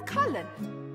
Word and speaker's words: Cullen: it's the only War Cullen that's cullin the Mage wore a